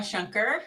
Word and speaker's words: Shunker: Yeah, so I am Shunker, rhymes with Splunker.